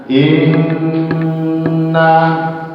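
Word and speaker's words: إنّا: Sedangkan kalau gunnah itu harus lebih, jadinya harus 3 kali ketukan. Jadi harus 3 kali ketukan. Jadi bacanya inna, inna.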